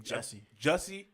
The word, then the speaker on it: Jussie: Is it Jesse or is it Jussie? That's a weird ass name. Jussie. I think it's Jussie. It's like it's spelled like Jussie.